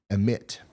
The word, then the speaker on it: Amite: kind of dumb um Susan says hey Ryan satarshia it's is pronounced satarsha satarsha in Amite county is pronounced emit all right thank you